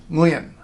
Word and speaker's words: Nguyen: English conversation its lien now you may think that you can't say that because it starts with nuh you see ng at the beginning of a syllable you think ng no good but no starting a syllable with nuh may not be a thing we intends to do but it's a thing we can do I'll prove it to